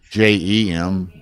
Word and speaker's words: Jim: Jim will be on the, and it's pronounced like Jem, Jim.